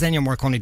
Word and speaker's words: Ennio Morricone: Ennio Morricone, I can never pronounce his name right. I think it's Ennio Morricone, isn't it? It is Ennio Morricone that passed away during the week.